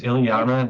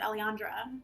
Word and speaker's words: Eliana: Are you adding syllables to her name? I don't think so. It was Ileana, now it's Iliandra. Well, you No. said Eliana too, and now you said Eliandra. No, there's no D.